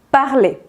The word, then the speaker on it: parler: Y es que cuando el verbo del primer grupo está al infinitivo, es decir, sin conjugar, no se pronuncia la R del final.